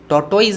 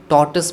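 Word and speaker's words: tortoise: टॉर्टोइज नहीं पढ़ेंगे friend, टॉर्टस पढ़ेंगे, TORTOIS, टॉर्टस। इसको टॉर्टोइज बहुत सारे लोग पढ़ते हैं, जो कि गलत प्रोनाउंसिएशन है, ठीक है।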